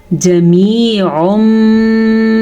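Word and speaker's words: جميع: چھوٹے پڑھے جاتے ہیں۔ تو ہم آگے میم کے بعد یا ساکن ہے تو ہم یا مدہ کو کھینچ کے پڑھیں گے کیونکہ یا ساکن ہے اور اس سے پیچھے میم کے نیچے زیر ہے۔ جمیع منتصر، یہاں پہ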